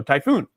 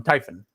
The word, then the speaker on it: Typhen: Okay. Typhen pronunciation. Thank you. Uh, this I'm, you know, I'm a dodo brain and I see that and then I want automatically want to go typhoon. Um, Typhen, sorry.